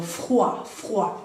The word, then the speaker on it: froid: Y avoir froid, tener frío, froid, ¿bien? OI es como el WA, wa, y la D no la pronunciamos, entonces avoir froid.